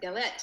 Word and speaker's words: galette: So and you're doing, and I'm going to pronounce it wrong, but I love this, the galette. Say that galette, yes.